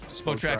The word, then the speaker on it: Spotrac: And Spot Track does, is that how you pronounce it? I always thought it was Spotrac. Yeah, Spotrac over the cap.